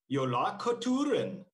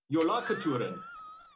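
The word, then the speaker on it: Jólakötturinn: And I have to look because I have to figure out how to pronounce it. It is Jolakoturen, Jolakoturen.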